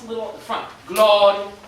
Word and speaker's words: Gloria: Gloria, Gloria, accent every single time, the first syllable.